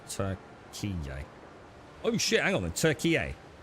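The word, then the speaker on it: Türkiye: The official international spelling of the country is now Turkey, pronounced Turkey.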